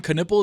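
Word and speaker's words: Knueppel: earlier Cooper flag and con canle is exactly how you say it so whoever that guy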